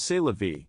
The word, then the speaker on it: c'est la vie: But in French, it is c'est la vie, without the u sound at the end of vie.